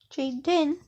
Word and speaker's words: Jaden: But Jaden, pronounce it J, and then Din, Jaden, but D-E, does sound good.